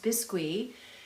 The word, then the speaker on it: biscuit: It's a French sponge, otherwise known as a bisque or biscuit. It's spelled biscuit, but it's pronounced bisque.